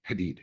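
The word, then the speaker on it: Hadied: And it's it's pronounced hated Hadid. Hadid I'm sorry.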